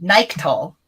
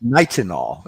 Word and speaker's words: nitinol: know I have pronunciation Nike tall is that correct nitinol and I have Knights and all I always mess it up nice and all so you know a